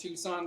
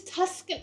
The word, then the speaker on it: Tuscan: This is that word that I thought was pronounced Tucson, but it's not. It's Tucson. Tucson? Or something like Tuscan.